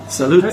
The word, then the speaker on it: salute: Salute.